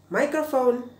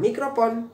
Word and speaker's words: microphone: pinjem mikrofonnya dong kita ya tapi sebetulnya adalah microphone ya microphone bacanya bukan mikrofon atau microphone tapi microphone jadi mic itu yang